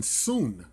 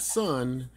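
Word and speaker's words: Sun: Jason soon not son as many of us have erroneously pronounce his name but it's actually pronounced Jason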